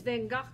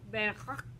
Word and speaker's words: Van Gogh: What does Van Gogh... Oh, I said it wrong. Van Gogh. It's hard to say. You can say Van Gogh.